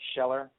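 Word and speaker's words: Kjeller: last name is sheller and it's spelled KJ e ll er so when you have a name like soon K and another name like sheller you know it's just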